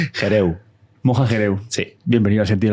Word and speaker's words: Gerehou: si vamos allá ok moja y hereu se pronuncia hereu moja xerez bienvenido a